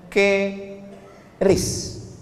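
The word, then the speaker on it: QRIS: Sekarang di pintu-pintu masjid, di pintu-pintu mall ditulis ada namanya ke ris qis. Cara bacanya gimana sebetulnya? Keris.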